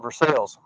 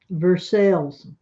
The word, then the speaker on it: Versailles: That's not how it's said. That's how it's said normally. Here it's called Versailles. Versailles.